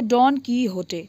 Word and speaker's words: डॉन कीहोटे: उस नॉवेल का नाम है डॉन कीहोटे। प्रोनाउंसिएशन अलग इसलिए लग रहा है क्योंकि ये स्पेनिश इंग्लिश नॉवेल है।